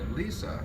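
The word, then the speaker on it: Lise: Lisa, I've been told is the correct pronunciation, died when she was hit by a car.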